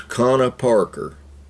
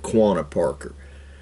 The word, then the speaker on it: Quanah Parker: comanche his name was connor parker a lot of people mispronounce it quanah parker he was half white